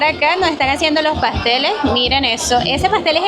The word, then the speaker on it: pastel: ¿Cómo pronuncia pastel? Pastel.